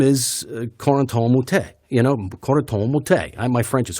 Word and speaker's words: Corentin Moutet: You're saying it wrong. It's Corentin Moutet.